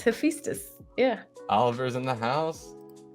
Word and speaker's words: Hephaestus: That's exactly how I felt about you pronouncing Hephaestus. I said it wrong. No. Hephaestus. Yeah, oh, he said he's here. It's Hephaestus. Yeah. Oliver's in the house. Because people can't pronounce his name, so they can't feel connected.